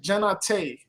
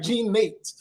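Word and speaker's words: Jean Naté: Thanks for yeah, it's a classic, Genate. So I call it Genate, but it's Jean, not Nate. It's like Jean Nate.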